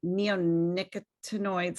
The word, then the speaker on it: neonicotinoids: Can you say that again? Neonicotinoids. I've been wanting to know how to pronounce that. I think, who knows if I've got it right, but we've had a lot of public hearings on it, so I'm getting closer to pronouncing these things correctly. I think you actually got it right.